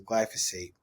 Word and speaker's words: glyphosate: Part 2, we're going to go over some of the other issues or some of the other impacts of glyphosate.